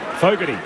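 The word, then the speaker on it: Fogarty: for you man the syllable one is five f-o-e GA g-a-t Fogerty is the pronunciation of locky's name as the blues have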